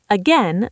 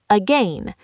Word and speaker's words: again: Deep dive password stress the pass again. The last syllable can sound like n again or a again. Again is the standard for most speakers.